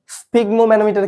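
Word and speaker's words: sphygmomanometer: কোন বানানটি সরি তাহলে স্পিগমোম্যানোমিটার কি বলো দেখি হৃদপিণ্ডের সরি হচ্ছে ব্লাড প্রেসার মাপার যন্ত্র স্পিগোমো ম্যানোমিটার হচ্ছে ব্লাড প্রেসার মাপার যন্ত্র বানানটা বই থেকে দেখে নিও সঠিক বানান কোনটি উচ্চারণ হবে স্পিগমো ম্যানোমিটার এখানে এখানে কি কি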